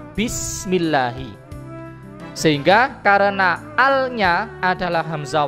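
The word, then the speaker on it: بِسْمِ اللّٰهِ: Sebagaimana lafadz basmalah, bismillahi, bukan dibaca biismillahi tapi dibaca bismillahi.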